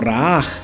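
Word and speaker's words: Jehová Raah: Por otro lado existe el nombre de Jehová Raha, ¿ya? O Raaj, porque la H en el lenguaje hebreo se pronuncia como una J, así como gutural, que sale como de adentro, perdón que haga el sonido, pero así es como suena.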